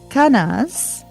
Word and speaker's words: Kenaz: Kenaz, spelled k e n a z, is the torch of uncontrolled fire, the light of understanding.